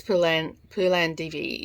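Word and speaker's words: Phoolan Devi: I didn't realize there are actually movies about I think it's Pulan Divi is how you pronounce it.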